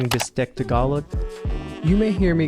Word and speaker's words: bistek: It also goes by the name Bistek Tagalog. You may hear me going back and forth between pronouncing it bistek or bistig with a G, and bistig is what the dish is called in Pampanga.